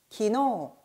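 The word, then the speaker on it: 昨日: 기노.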